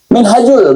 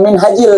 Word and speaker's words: Minhajul: Ah, Minhajul bukan Minhajil seperti yang dibacakan Kibin. Kata Kibin bahwa kitab ini bahasa Arabnya belepotan.